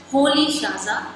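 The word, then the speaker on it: Rolihlahla: So the pronunciation is different what is written here. So his full name pronunciation is Nelson Holy Shaza Mandela.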